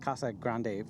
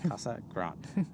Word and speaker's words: Casa Grande: So, we were saying it Casagrande from when we first started. Yes. But, apparently it's not. It's Casagrant.